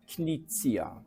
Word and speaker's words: Knizia: I know a lot of people in Poland call me Knizia, and that's fine because everybody pronounces it, but the original pronunciation is Reiner Knizia. It's H-K-H-Z. Knizia.